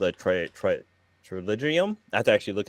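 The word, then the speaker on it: pterygium: It starts with a P, but the P is silent. So it's like why isn't it even there?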